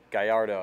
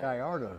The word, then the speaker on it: Gallardo: Gridado or Gridado, man, that kid can kick. How do you pronounce it? Gallardo, I think. Gallardo. Yes, sir.